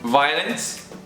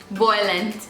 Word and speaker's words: violence: Yeah, Violence. Voylence.